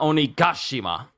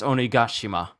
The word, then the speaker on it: Onigashima: someone please correct me I just hear it as onigashima but not only goshima I rewound the video I think I've been saying it wrong all these years it's onigashima it's good to see mominosuke